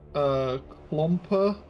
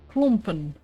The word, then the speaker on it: klompen: Isn't it klomper for clogs? Close, close. Klompen. Klompen.